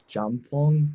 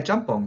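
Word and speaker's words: 짬뽕: I've been cooking like Korean fried chicken, jampong. I'm not sure if that's how you say it. Yeah, jjampong.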